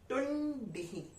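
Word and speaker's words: तुण्डिः: तो टुंडिः, टुंडिः, ड से डमरू वाला डी है, टुंडिः।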